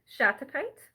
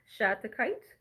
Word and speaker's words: Shattuckite: this first is because it's really hard to pronounce, and I just want to get it over with. Uh, Shattuckite. I think I said that right. Shattuckite.